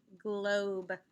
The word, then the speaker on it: globe: look at that's glob what is silent that i didn't use a finger for that would make that o vowel long a sneaky e very good globe like